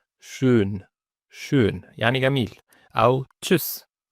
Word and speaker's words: tschüss: أو tschüss tschüss أو tschüss، دي ت وبعدها اس سي ها نطق شين.